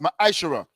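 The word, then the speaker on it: מעשר: Malachi 8 through 10 means 10th in the Hebrew, which is pronounced ma'ashara.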